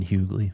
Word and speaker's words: Hugley: Um John told me to stop pronouncing the G in Hugley. What do you have to say about that? Um John, have you ever heard of DL Hughley? That's that's where it's coming from in my head.